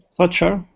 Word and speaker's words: soccer: Cup, the most famous soccer competition in the world. Okay, good. That's it. This word, can you say it again? Soccer. Okay, in soccer, yes. In English, the double C is pronounced K.